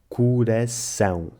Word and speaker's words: coração: E para acabar, o ditongo nasal ão, que se lê ão e não ao. Coração.